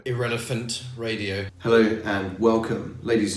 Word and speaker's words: IrrElephant: it relevant radio yes actually glad you've worked out how to say it irrelevant radio hello and welcome